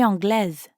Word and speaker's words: anglaise: Je suis anglaise. Anglaise. Notice how you do pronounce the S in that case.